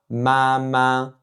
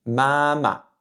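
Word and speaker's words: 妈妈: fois le même caractère, on dit pas mama. Vous vous souvenez, j'ai pas dit mama, j'ai dit mama. mama Alors ça, c'est une particularité en chinois mandarin. Parfois, un caractère va se prononcer avec le ton dit neutre.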